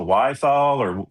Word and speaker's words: Wiethaler: Uh is it the Wiethaler How do you say Wiethaler?